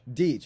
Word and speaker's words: Deetch: Is that how you say it, right? Deitch. What is it? Deitch. Deetch. Okay. Want to make sure I get it right. Me and him are going